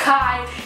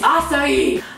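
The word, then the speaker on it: açaí: It's not a kai, it's not acai, it's acai.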